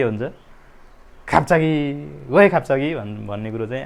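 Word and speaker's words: 갑자기: र यसको उच्चारण चाहिँ के हुन्छ? ठिक छ, आधा प यो चाहिँ खाप्चागी।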